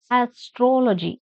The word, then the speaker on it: astrology: Second one is Astrology. Stress on troll. Astrology.